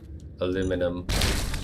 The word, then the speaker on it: aluminum: I don't actually pronounce it aluminium. I pronounce it the American way. Aluminum.